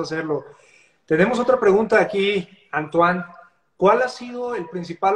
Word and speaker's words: Antoine: Anthony, Anthony, Anthony. No, mucha gente me dice porque es un diminutivo de Antoine. Antoine. Antoine es lo mismo que Antonio en español. Pues pronuncia Antoine.